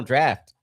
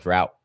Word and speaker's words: draft: Yeah, we final draft. It is It's draft. Oh, draft. Because it's it's it's English. It's spelled drought, but it's draft.